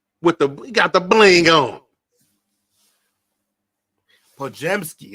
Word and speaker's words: Podziemski: Podzimski, yeah. Podzimski? Yeah. Zeminski? He got the bling on. Podziemski. That's how you say his name.